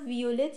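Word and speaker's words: Violett: مثلا ویولت یک واژه‌ای که از زبان دیگری به آلمانی وارد شده، پس اینجا و تلفظ میشه. اما فیل که یک واژه آلمانیه به معنای زیاد، اونجا ف تلفظ میشه.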